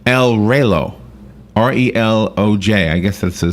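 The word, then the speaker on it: Reloj: It's El Relo.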